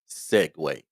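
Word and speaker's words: segue: you to do is learn this word s-e-g-u-e Segway it doesn't sound the way it spelled but that's how you pronounce it I need you to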